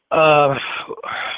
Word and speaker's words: Whydah: Some pronounce it the Widow. Yep. Whyddah.